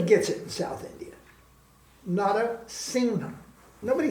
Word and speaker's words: Narasingha: I don't spell it the same way I spell my name, but my name was given to me in Bengal, and they don't say, they say Singha.